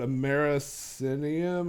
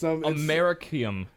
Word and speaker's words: Americium: Because he was going to, I don't know how to pronounce this element, but americinium or americanium, I don't know. It's Americium. Yeah.